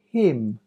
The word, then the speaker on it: hymn: Autumn, column, hymn, condemn, solemn, damn. The last letter is silent. Autumn, column, hymn, condemn, solemn, damn.